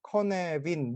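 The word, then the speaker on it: Cynefin: 사람이 이제 웨일즈 사람이라서 웰즈 발음으로는 컨 어빈 커 내빈 뭐 이런식으로 발음을 해요 그래서 이제 이걸 보면 이 5개의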